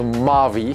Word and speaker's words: Maui: They spell Maui, but I was told to pronounce them as Maui.